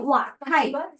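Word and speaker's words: 滑稽: 咁啊有啲好滑稽，呢個字咧讀作滑稽，真係好搞笑，滑稽。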